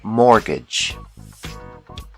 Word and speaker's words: mortgage: call this loan a mortgage the t is silent mortgage another common loan is